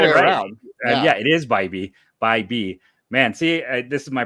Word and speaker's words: Bibee: I know it's not correct, and call him Bibee instead of Bibee? No, you were right. No, it's the other way around. Yeah, it is Bibee.